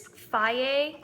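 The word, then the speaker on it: Fage: It is Faye. You don't actually say like the G, you kind of say it like a Y.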